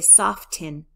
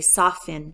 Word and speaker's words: soften: it whitens soft soften the T is gone in my pronunciation when I say soften I don't say soft in I say soften this cream softens my